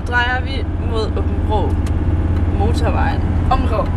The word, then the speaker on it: Åbenrå: Åbenrå. It's spelled A-A-B-N-R-A. Ja, men egentlig er det et Å. Ja, Åbenrå.